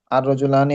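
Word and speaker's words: الرجال: রিজালুন মানে কয়েকজন পুরুষ এরপর আছে আর রিজালুন এখানেও এভাবে তাসরটা ভুল চলে আসছে র এর পরে হবে এটা র এর উপরে হবে তাসরটা আর লামের উচ্চারণটা হবে না।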